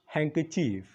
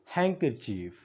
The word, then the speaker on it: handkerchief: دا ورکې نه ویل کېږي دا ویل کېږي هینډکچیف هینډکچیف یو ځل ما سره ووایئ هینډکچیف هینډکچیف